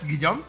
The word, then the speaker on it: Guillaume: Today, me and Sarah, we are talking with Guillaume. Is that Guillaume? Yes. Perfect. Yes.